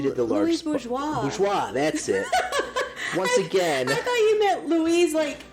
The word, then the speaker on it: Bourgeois: It's the same thing with, Louise Bourgon. Bourgon? Bourgeon, I think. Louise Bourgon? However you say her name. Wonderful sculptress. Oh! She did the large... Louise Bourgeois. Bourgeois, that's it.